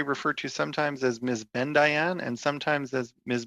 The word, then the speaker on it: Bendayan: I'm happy to be referred to as Rachel as well, but it's Mrs. Bendayan. Bendayan.